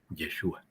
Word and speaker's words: Yeshua: Bueno, pues ahora lo vamos a poder pronunciar. Yeshua.